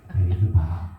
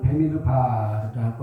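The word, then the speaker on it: במדבר: 혀를 굴려서 베미드 바 이렇게 하시든지 베미드 바 하시든지 그거는 편한 대로 하시고 우리가 외국말을 정확히 발음을 할 수는 없어요. 그 원래 이름은 베미드 바라고 하는 것이고 이 제목은 하나님이 이렇게 말씀하셨다.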